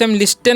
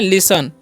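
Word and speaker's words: listen: क्या लिखा हुआ है एल आई एस टी एन तो इस लिस्टन नहीं पढ़ना है इसे क्या पढ़ना है लिसन क्या पढ़ना है लिसन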